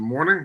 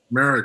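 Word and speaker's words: Moehrig: Is it Morning or is it Merrick? Merrick, I'm sorry.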